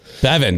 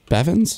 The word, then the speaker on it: Bevan: Bevan. It's Matt Bevan. Did I say it right? Bevins? Yeah, I think I did. Added an S. I think you added an S. Oh, there is no S.